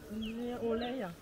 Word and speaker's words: Aurélia: Oreya. Oreya. Oui. Oreya. Oui. Je m'appelle Oreya. Oreya. Oreya. Ma prononciation est très mauvaise.